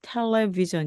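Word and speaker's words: television: 뭐 여러 가지 단어들이 있는데요 우리가 살펴볼 것은요 텔레비전 있니다 자 텔레 그요 먼거리에 걸친 즉 원격의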